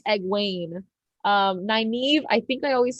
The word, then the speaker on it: Egwene: Okay, and it's cool to know how to pronounce the names now because you read it and you're like, I always said Egwin. She said like Egwene.